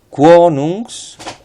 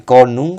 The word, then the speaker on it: konung: Salir quonungs. Atención a estas. Si habéis visto los vídeos de la pronunciación, la O breve tónica no se dice konung, sino quonung.